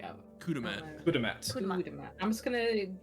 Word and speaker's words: Kudamat: Kudamat. Kudamat. Kudamat. I'm just gonna assume that's spelled K-U-D.